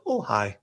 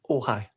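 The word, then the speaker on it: Ojai: Uh, O J A I am going to visit Ohhigh and spend a night in Ohhigh.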